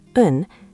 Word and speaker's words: 은: The topic markers are 은, spelled un and ra, pronounced un, and 는, spelled nun and ra, pronounced nun.